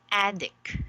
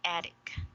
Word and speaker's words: attic: word oh okay actually this one is read as a dick okay attic okay yeah and uh-huh what